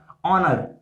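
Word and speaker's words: honor: अगर मैं इंग्लिश में बात करूं, इंग्लिश में भी हमारे पास बहुत सारे वर्ड्स हैं जो कि साइलेंट होते हैं। अगर मैं एक एग्जांपल लेता हूं तो like ऑनर, ऑनर and honest.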